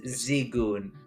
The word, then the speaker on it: Zigon: add a note that we've been pronouncing uh the head of the dark uh Cloud's name wrong it is zigon sorry zigon zigon Z